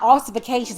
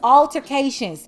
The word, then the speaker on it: altercations: escalating physical altercations and it's not artification or whatever you called it it's altercations you should know how to